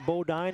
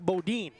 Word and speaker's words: Boden: pronunciation Cur I think I've been between Bodine and Boden a few times today but it's Hank Boden yeah Hank Boden bod